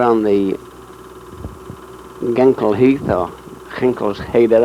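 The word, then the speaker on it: Ginkelse Heide: Now we're on the Genkel Heath, or Ginkelsheder, I think is how the Dutch pronounce it, waiting for the 1st Battalion to drop, who are in those 2 planes there.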